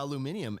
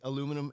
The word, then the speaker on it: aluminium: aluminium and composite. Americans say aluminum and composite.